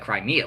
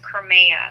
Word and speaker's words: Crimea: one point crime CU actually looks like Crimea like the country right Crimea it's Crimea cria so you want to make sure we get I think it's I think it might be pronounced Crea Crea well I'm just getting that from the news broadcast that's that's how they said it um but yeah yeah